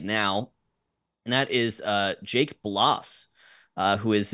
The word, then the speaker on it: Bloss: and that is Jake Bloss, who is a, and I hope that's how you say his last name, rhymes with Moss or Floss.